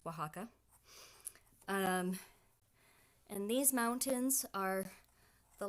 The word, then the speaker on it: Oaxaca: that spelled Oh a ex-ac and yes it's pronounced Oaxaca and these mountains are the lovely things that